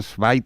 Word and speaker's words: Zweig: Sí, a ver, Antonio, para que tengas toda la información, le he pasado escrito Stefan Zweig, que no sé decirlo, porque como Rafa tiene un alemán estupendo y perfecto.